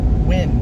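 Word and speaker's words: Wynne: Win. It's not like Winnie, it's just win.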